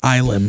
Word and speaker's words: Ylem: I mispronounced it. It is Ilem. To the guitar player at the merch table at the show, and he just corrected me.